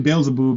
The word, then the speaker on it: Beelzebub: Actually, Beelzebub is how you say it.